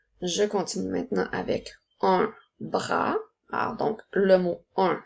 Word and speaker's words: bras: Je continue maintenant avec un bras. Alors, donc, le mot un s'écrit UN. Ensuite, nous avons B, R, A. Attention, le son A s'écrit avec un S qui est une lettre muette.